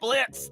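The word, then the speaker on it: Blitzø: Blitz, the O is silent.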